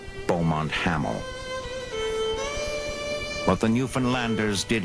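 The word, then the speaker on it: Beaumont-Hamel: the top near a village they pronounced bont haml what the new finlanders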